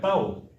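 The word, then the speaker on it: ταῦ: 따오. 이게 생긴 모양은 T하고 영어의 T하고 똑같죠. 이 발음은 트가 아니고 뜨예요. 따오예요. 따오. 영어로는 물론 따오 발음을 못하니까 타오라고 있는데 따오.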